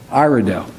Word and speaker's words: Iredell: And am I pronouncing right, Iredell? Iredell.